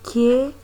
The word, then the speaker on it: knife: of the word knife, knife is written as or is spelled as K-N-I-F-E, but it is pronounced as knife. The K, that is the K sound, is silent.